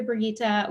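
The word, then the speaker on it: Brigitta: Also, I loved that movie, and I was obsessed with the Brigitte. We pronounced it Brigitte. I think in the movie it was Brigitte.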